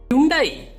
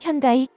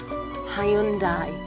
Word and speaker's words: Hyundai: 대표적으로 오용되는 영어 발음인 현다이, 하이엔데이, 하이윤다이 등을 예로 들어 코믹한 요소를 담아 외국인들을 웃게 하는 동시에 정확한 발음으로 바로잡을 수 있도록 했죠.